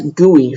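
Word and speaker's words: GUI: for our counter class we pronounce it as goey for short that's what people say we're going to make a goey for our counter class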